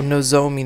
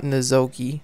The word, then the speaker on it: Nozomi: Oh, Nozomi, not Nozomi.